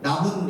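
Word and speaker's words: 나뭇잎: 모음 으로 시작 하는 단어 앞 에 'n-n' 소리 가 붙는 것 도 당연 합니다 . 제 가 " 나문 닙 " 에는 'n' 발음 이 두 개 추가 된다 고 말 했었죠 ?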